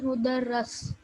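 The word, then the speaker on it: مُدَرَّس: So this is mudarris. What is the second one? Oh, okay, that is mudarris and that is mudarras.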